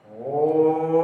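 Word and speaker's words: ओम्: तो उच्चारण करें तो किस प्रकार से होगा, ओम। म जो आ रहा है तो मैं कैसे है, हलंत है, हलंत है तो साइलेंट हो जाता है। ओ को हम जितना लंबा खींचेंगे, जितना लंबा खींचना चाहे उतना लंबा खींच सकते हैं।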